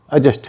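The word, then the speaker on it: adjust: तो हमने एडजस्ट की बात की थी और हमने बताया था कि एडजस्ट में डी साइलेंट होता है, उसका सही उच्चारण एडजस्ट नहीं है, एडजस्ट है।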